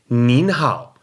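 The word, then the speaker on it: 您好: time they may use the respectful form of the word knee you and that would be mean and I n in the second tone so instead of saying Neha they may say mean how now you can use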